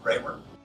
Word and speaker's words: Bremer: a county after her which produces dreamer county as we often pronounce now she would have pronounced her name ramer when i first realized that bremer county and frederica are